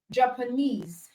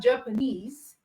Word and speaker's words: Japanese: stress on it and we have Japanese okay japanes three syllables or so and knes is the last syllable so which means that knes as the stress on it so words that ends